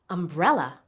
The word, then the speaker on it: umbrella: Umbrella. Umbrella. Do you hear the stress? It's on the second syllable.